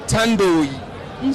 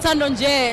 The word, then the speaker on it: Thandonje: sisters of seoul who are these artists so tandoo tandon j is just saying tano like silicon